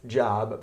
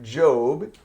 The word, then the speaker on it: Job: Job, not pronounced Job, but Job is a book in the Old Testament referring to a person named Job that the book is about.